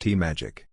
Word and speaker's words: TMAGAC: America Great Again Committee, internally referred to by its acronym TMAGAC, which RNC officials pronounced TMAGAC.